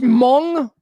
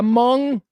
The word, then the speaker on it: Hmong: It's pronounced Hmong. Adam, is that what you're saying? All right. Yeah, Hmong. Because the H, I'm guessing the H is silent, or at least, influences in a different way.